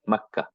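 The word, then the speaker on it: مكة: Okay, but in the sound, in the pronunciation, we don't say that. We just stop there, Makkah. Okay, but actually it's Makkah too.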